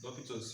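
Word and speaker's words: L'Hôpital's: question 1 was on L'Hopital's theorem. It has different pronunciations, but then this is how you pronounce it. Others can say a hospital, potato, potato, anyway.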